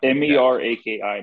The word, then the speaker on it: Meraki: you mentioned like the is it Meraki is that how it's pronounced yeah m-e-r-a-k-i Meraki gloves yeah I see them